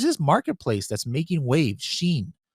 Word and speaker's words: Shein: Marketplace that's Making Waves Sheen uh I believe is the way you pronounce it in the U.S and in other countries and might be something